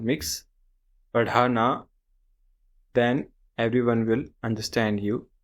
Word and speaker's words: पढ़ाना: This consonant here is ढ. The closest pronunciation in English we have is D with H sound. D and H.